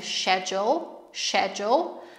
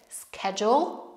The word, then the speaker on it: schedule: Pamiętajcie, że w brytyjskim, angielskim mówimy schedule, natomiast w amerykańskim wymowa jest bardziej przez k, schedule, schedule.